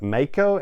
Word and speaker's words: maiko: trainee aspect of it pardon me for the pronunciation but maiko m-a-i-k-o and that is basically a geisha in